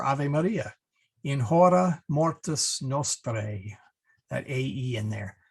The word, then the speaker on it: nostrae: So anyway, we do have one diphthong in our Ave Maria, in hora mortis nostrae, that AE in there. So you want to say nostrae, not nostrae, nostrae.